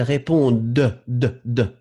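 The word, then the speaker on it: répondent: Oui, alors prononcez bien le pluriel, elle répond de. Hein, parce que c'est D-E-N-T, elle répond.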